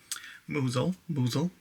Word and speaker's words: Mousehole: Tomorrow we are going to go into the town close by, 10-minute walk into Mousehole, that's how you say it, and just explore and see what it's like down there.